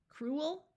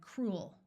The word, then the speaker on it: cruel: I would like to point out that in much of the US, these words are pronounced as one syllable. So you will hear both fuel and fuel, cruel and cruel.